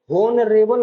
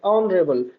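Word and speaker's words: honourable: MBBS, an elephant, N ऑनरेबल ऑनरेबल ऑनरेबल। इस तरीके से हम इसको प्रोनाउंसिएशन करते हैं, होनरेबल नहीं होता है, ऑनरेबल।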